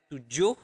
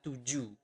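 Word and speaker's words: tujuh: Seven is to or to but in basa we usually we do not pronounce the h at the end of the word so you do not pronounce it as to but to okay to now uh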